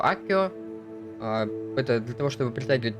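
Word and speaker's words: Accio: Сегодня мы изучили новое заклинание Акцио. Или как они произносят его Аккио.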